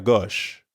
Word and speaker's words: gauche: Notice that the O sound in gauche is the same as in au revoir, or in the English word story.